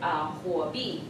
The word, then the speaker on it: Huobi: And then after I joined Huobi, I went to like really, really, really, really far.